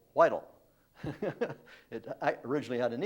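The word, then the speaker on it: Whitall: hannah whitehall smith that's w-h-i-t-a-l-l not whittle i stayed with her great-granddaughter for six weeks and was going through the family papers and she always kept telling me not whittle whitel it i originally had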